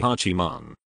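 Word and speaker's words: 八幡: comment on the name 'Hachiman'. The ancient Japanese pronunciation of the characters was 'yawata'; this at any rate was the reading Motoori Norinaga gave them when he transcribed the imperial edicts of Shoku Nihongi.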